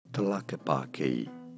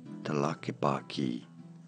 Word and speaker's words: Tlaquepaque: Tlaquepaque. Tlaquepaque. Tlaquepaque. Tlaquepaque. It's not hard. Go for it. Tlaquepaque.